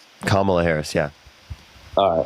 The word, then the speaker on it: Kamala: Kamala Harris, yeah.